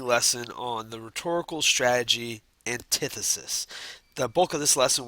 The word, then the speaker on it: antithesis: why it's used and just notice it's usually pronounced antithesis as opposed to antithesis so antithesis would be the way to say it let's